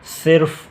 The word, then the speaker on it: صرف: حالانکہ یہ ہے وقت۔ اسی طرح صرف نہیں ہے، ہم رے پر بھی زبر پڑھ لیتے ہیں تو یہ غلط ہے۔ صرف درست تلفظ یہ ہے۔ غلطی، ہم اس کو